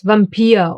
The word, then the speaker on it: Vampir: But, sometimes, just sometimes, it will be pronounced like the German W. Remember, v. Like in the words Vampir or Vulkan.